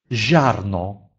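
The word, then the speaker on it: ziarno: Если же после буквы «и» стоит гласный, то тогда «и» не читается и служит только для того, чтобы показать нам, что перед ней идет мягкий «ж». «Жарно», «жарно», «зерно».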